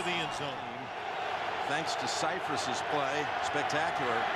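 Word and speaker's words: Scifres: This man Mike Ciphers.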